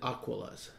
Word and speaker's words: Aquila: Ken Middleton told me how to pronounce it, and I believe he said Aquilas. That's the right way to pronounce it.